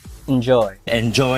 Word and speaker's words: enjoy: aw sound is and so the eem part with a we vow sound should be pronounced more like in so we should say enjoy enjoy now here are a